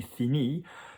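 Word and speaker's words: finie: page that I finished, la page que j'ai fini, fini is going to sound exactly the same. It's only going to have a an E written down on the end of it, but it's not going to sound any different.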